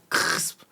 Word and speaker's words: CRSP: Exactement, comme le nom l'indique, c'est CRSP, il n'y a pas de voyelle, c'est un bruit. Crisp. Donc déjà, pour le prononcer, il faut croquer dans un de nos sandwichs, comme ça vous arrivez à le prononcer.